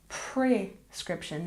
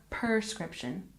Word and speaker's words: prescription: number 16 is prescription remember it's prescription not prescription and we stress the second syllable prescription prescription one more